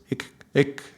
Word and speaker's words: Ik: It doesn't matter because the important is how you pronounce it, but there is no real exact vowels in English between these two vowels. The sound is ik, yeah?